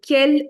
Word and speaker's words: quel: And the fun fact is, all of them are pronounced as quel. This is also quel, the first one.